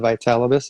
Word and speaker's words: Vitalibus: And one of the people said, well, how do you say the name? So we created it, Vitality Through Cannabis, right? So if you can remember Vitalibus, it's Vitality Through Cannabis.